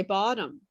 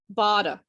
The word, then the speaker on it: bottom: and for my brazilians they can never say bottom what did they say bada bada or or bottle like it sounds i mean they don't say bottle but it sounds like the word bottle bottom bottle or or